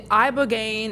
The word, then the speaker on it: ibogaine: The ibogaine, is that how you say it?